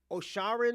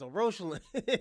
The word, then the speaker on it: O'Roshalin: He said my name wrong. He said he said Osharin or something like that. Oaren, I think he said. I was like, "No, it's Oroin."